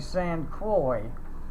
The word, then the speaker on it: Saint Croix: I found out what the proper pronunciation is saint a saint croix the saint croix was